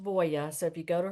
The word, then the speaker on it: Voie: It's her name is spelled Voie, but it's pronounced Voya.